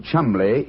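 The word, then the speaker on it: Cholmondeley: know that the name chumley is in no way pronounced the way it is spelled never thought of that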